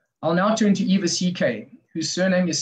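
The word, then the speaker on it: Szekely: posthumously in 2019 i'll now turn to eva ck whose surname is spelled s-z-e-k-e-l-y c k was 17 in the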